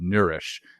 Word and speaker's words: Neurish: using a daily supplement called Nourish, and that's spelled Neurish. So that's Neurish.